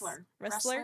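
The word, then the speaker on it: Ressler: According to the late criminal profiler Robert Russell, I think is how his last name is pronounced. Wrestler.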